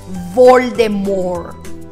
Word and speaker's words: Voldemort: esta saga jk rowling ella anunció que todos estábamos pronunciando mal el nombre de lord voldemort porque la tf final no se debe pronunciar así que lo correcto debería ser según ella que es la autora lord voldemort número